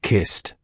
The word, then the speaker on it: kissed: The first sound is a clear sharp t. You can hear it in a word like kissed. They kissed. Did you hear that crisp ending? It's not kissed, it's kissed.